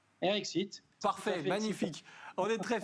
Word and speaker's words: RX Eat: d'être là alors déjà est ce que je le prononce bien pardon eric site eric site parfait magnifique on est